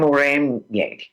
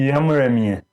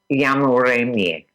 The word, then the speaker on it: Yamuremye: I am Muremye. Close enough. Muremye? Okay, no, you say it. Tell us, how do you say it? Yamuremye. Yamuremye. Yes, perfect.